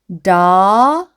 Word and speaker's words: double: 그리고 OU는 어떻게? 어라고 소리가 나니까 그럼 여기까지 더가 됩니다. 그리고 B는 B. 그리고 이 L은 끝에 있는 L, 리을 소리 어떻게 된다고요? 받침으로 들어가서 bull 이렇게 되고요. 그리고 E는 묵음으로 소리가 나지 않습니다.